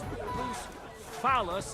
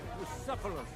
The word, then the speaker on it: Bucephalus: What kind of name is Bruce Phallus, anyway? It's pronounced Bucephalus.